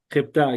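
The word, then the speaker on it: ἑκατόν: Jepta, correcto. El acento cae en la alfa. Jepta y significa, ¿alguien sabe qué significa?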